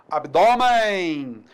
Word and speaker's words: abdômen: Abdômen paroxítona terminada em N.